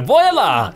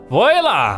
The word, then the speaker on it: voila: open wide for us I said boy Allah I don't know how to pronounce it for whatever reason voila voila voila voila yeah